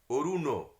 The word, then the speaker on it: অরুণ: আর মূর্ধন্য নয়ের যে উচ্চারণগুলো, এই যে অরুণ, মূর্ধন্য বলতে গেলে আমাদের জিভটা একটু উল্টো হয়ে মূর্ধায় চলে যায়, সেইটা খেয়াল রাখতে হবে। অরুণ, অরুণ নয়, অরুণ, অরুণ রথ চূড়া, ডয় শূন্য রয়ের উচ্চারণ।